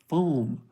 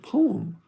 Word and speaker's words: poem: syllables When teacher heard I thought she was asking fo f o a m but she said poem p o e m so foam f o a m fo one syllable poem p o e m poem two syllables so hey it's okay